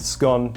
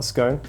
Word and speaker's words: scone: Firstly, it's pronounced skahn, not skohn.